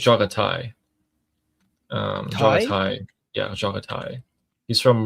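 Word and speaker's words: Jaghatai: Yeah, but the take is But I think it's Jagatai. Um, yeah, Jagatai. He's from Warhammer 40k. Let me just double check on the pronunciation. Jo. Yeah. Jatai. Jatai.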